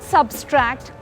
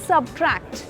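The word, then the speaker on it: subtract: इट्स नॉट सब्सट्रैक्ट। इट इज़ सबट्रैक्ट। सबट्रैक्ट simple.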